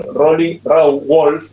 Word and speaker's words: Roly Rauwolf: Y le cuento a la gente que estamos en comunicación directa con Rolly Rawolf. Él me va a decir si lo estoy pronunciando bien.